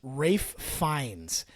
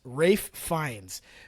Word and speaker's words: Ralph Fiennes: It says the name Ralph Fiennes is pronounced Rafe Fiennes. So with the Ralph pronounced like Rafe, rhyming with safe, and the Fiennes pronounced like Fines, rhyming with lines.